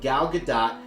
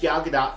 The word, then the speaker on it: Gal Gadot: actress herself has stated it's a soft tee that you do actually pronounce in multiple interviews Believe